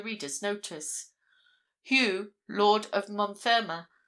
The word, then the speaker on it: Montfermer: Hugh, Lord of Montfermer, or Mothermer, as it was generally pronounced, and whom, as his